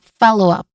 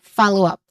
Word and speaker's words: follow up: So the stressed syllable here is in the first syllable. So we say it as follow up. Again, follow up.